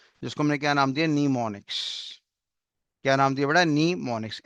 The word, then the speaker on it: mnemonics: नीमोनिक्स। क्या नाम दिया बेटा? नीमोनिक्स। एम नाम का शब्द यहाँ पे साइलेंट है, इतना आपको रीड करना है।